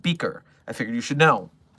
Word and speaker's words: BKR: I've caught word of a new GOI dubbed under the name Black Key Research or BKR, pronounced Beaker.